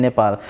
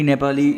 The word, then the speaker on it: Nepal: So it might set a good timeline to work and to do business in Nepal.